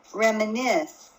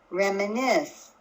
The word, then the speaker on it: reminisce: the third word again reminisce reminisce did you hear that my voice was higher in pitch on the last syllable on the nests I'm going to repeat